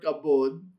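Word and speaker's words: כבוד: It's the word kavod. You have the kaf, you have the kamats, you have the bet without the dagesh lene, so it's pronounced as a v.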